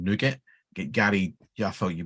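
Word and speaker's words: NuGet: n-u-pkg is new package because it comes from nougat Gary yeah I thought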